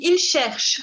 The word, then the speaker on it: cherchent: Luis, excuse-moi Luis, tu dis il cherche. Recuerda la N que no se pronuncia. Il cherche un appart.